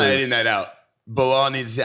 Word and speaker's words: Belal: How you pronounce his name? Bully B. Bilal.